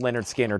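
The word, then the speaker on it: Lynyrd Skynyrd: And Leonard Skinner, pronounced Leonard Skinner, $64.99.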